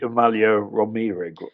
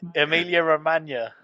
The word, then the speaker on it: Emilia Romagna: Do you mean the Amalia Romero? No, I've been You can't practicing even pronounce it. It's it. Emilia Romagna.